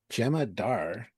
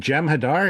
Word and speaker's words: Jem'Hadar: Do you mean Jem Hadar? Because that's not how you spell it. Um, Jem'Hadar. Gemma Dar.